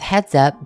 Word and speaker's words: Heads Up: Up next, we have Heads Up by Yggdrasil. The name is basically pronounced like saying heads up, but the S is a Z.